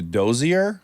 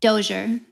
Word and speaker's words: Dozier: In fact I won't even know how to pronounce it. Is it the dozier? Doer. Doure.